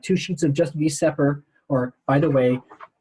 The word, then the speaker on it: VSEPR: or by the way some people call this vesper i know it does not spell that way so i am a total nerd and i say these separate and i'm probably in the two percent of people that say it that way if you go to